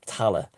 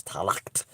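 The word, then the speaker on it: Tallaght: in ireland and they were all buried in tala and which was mispronounced by the earth the the americans as talacht because it's spelled t-a-l-l-a-g-h-t and irish and i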